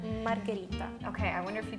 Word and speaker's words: margherita: the muscles here how do you say in english margarita is that closer it's closer it's closer than when i'm trying margherita margarita yeah so how do you say margarita in english margarita so